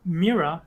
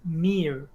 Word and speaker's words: mirror: with you yeah like I've heard some people pronounce mirror as Miro and it's like no that's wrong yeah it actually took